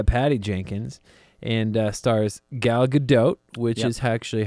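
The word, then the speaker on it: Gal Gadot: destiny directed by Patty Jenkins and uh Stars gal GDOT which is actually how you say her name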